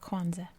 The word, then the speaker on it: Kwanza: And if that does sound familiar, it's pronounced Kwanzaa, which is Kwanzaa, the holiday, is apparently a Swahili term.